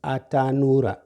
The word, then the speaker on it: atanura: Atanu, nu, u, nura.